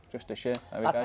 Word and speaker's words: Justiciar: Justiciar. Justiciar, there we That's go. how you say it. Sorry, I pronounced it horrifically wrong then earlier.